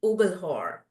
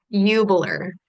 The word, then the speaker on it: Ubelhor: ubelhor and welcome did I say your name last name right no that's okay nobody does how do how do I say it I I want to say it right it's Yer Yer Yer okay Yer thank